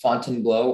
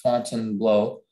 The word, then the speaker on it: Fontainebleau: information please yes um the word can be pronounced fontainebleau or fontan blow it's a noun it's